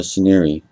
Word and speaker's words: Shineere: It's Shineere. That's actually how you say his name.